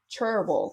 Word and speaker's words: Cherryville: And we moved to North Carolina, this little small town called Cherryville, which is so southern that they pronounce it Cherville.